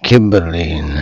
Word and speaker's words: Cymbeline: If you say his name with a hard C, you get Cymbeline.